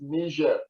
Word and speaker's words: Niger: And then there is the Niger, the word is pronounced Niger. It's the Niger River Basin.